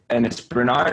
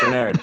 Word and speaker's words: Bernard: It's Bernard or Bernard? Whatever. Bernard, Bernard. usually. Yeah, that's Bernard. Bernard. Yeah. Bernard, yeah. Accent on the first.